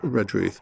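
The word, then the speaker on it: Redruth: Uh the way to pronounce is almost to forget the re.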